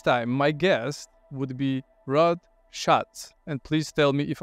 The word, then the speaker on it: Rod Schatz: Executives H this time my guest would be Rod Shotz and please tell me if I pronounced it correctly you got it R really